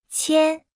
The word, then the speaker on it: 千: 千千千千千千千 Se pronuncia con el primer tono.